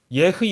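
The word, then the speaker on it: אהיה: 사실은 조금 히브리 사람들이 하는 발음대로 하면 흑가 좀 강해야 됩니다.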